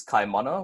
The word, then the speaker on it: Kaimana: word for ocean for instance my name is Chi mana which means powerful waters it can also be